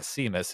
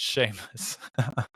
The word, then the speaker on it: Seamus: that name because yeah not Seamus it's Sheamus and uh so I thought